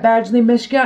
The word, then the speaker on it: Badgley Mischka: And then the next thing, they're actually in a Coach box, but they are Badgley Mischka. Is that how you pronounce it? Yeah, Badgley Mischka, and they're really cute.